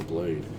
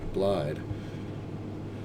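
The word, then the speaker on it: Blaidd: I can't believe we had to kill Blade. Keep saying his name wrong all this time. Blide.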